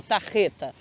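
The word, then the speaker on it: tarjeta: chama tareta Repete comigo tareta se escreve com j o J tem som de R então de cara você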